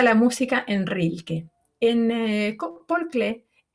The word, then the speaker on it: Paul Klee: En Paul Klee, o Paul Klee, mejor dicho, como se pronuncia en alemán, este artista suizo que